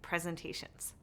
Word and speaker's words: presentation: number of syllables - presentation (4 syllables) – we can also identify which syllable that is most prominent (or emphasized). Which of the four syllables in “presentation” is emphasized? The third: presenTAtion.